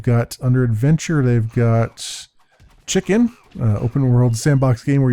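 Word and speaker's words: CHKN: keep an eye on chicken it's spelled CH hkn all caps um epistory I've been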